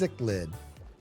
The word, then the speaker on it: cichlid: It's is pronounced cichlid.